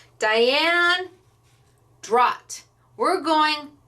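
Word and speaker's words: Dragt: Chrissy is the first one who said, oh, I think the G is silent, and it's Drott.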